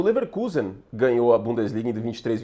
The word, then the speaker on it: Leverkusen: passado aí o Leverkusen, que a pronúncia é Leverkusen mesmo, tá?